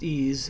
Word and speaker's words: EES: EES, which is pronounced EASE, is an acronym for Engineering Equation Solver. EASE is an engineering tool, and therefore the variables that you use in EASE typically represent physical quantities, and these are often measured quantities.